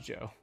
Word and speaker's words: J.O.: Pronounced Joe. Oh, pronounced Joe.